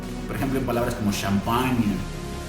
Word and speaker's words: champagne: La GN, este es un sonido que nosotros hacemos en español, pero nosotros lo ponemos con la ñ. Entonces cada vez que tú te encuentres una GN, vas a pronunciarlo como la ñ nuestra del español.